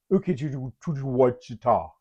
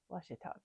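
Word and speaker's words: Ouachita: Laughter, louder than my GPS trying to pronounce Ukijujuwachita. That's Washita, Bearpa.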